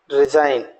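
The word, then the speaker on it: resign: अब देखिएगा कॉलोन, जी को हम साइलेंट छोड़ दें, colon. Genome, right. डिजाइन, रिजाइन, फॉरेनर, align, एसाइन।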